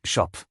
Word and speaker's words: Scop: Anh ta được gọi là “Scop” (phát âm: “Schop”).